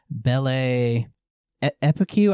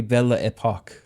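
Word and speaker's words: Belle Époque: period in France called Bell Epicue. I I'm probably saying it wrong. Probably Bella Epoch.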